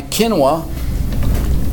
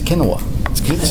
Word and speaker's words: quinoa: scored it on my quinoa last period they told me I was pronouncing it wrong quinoa quinoa quinoa okay okay to me it's kinwa can always be kin away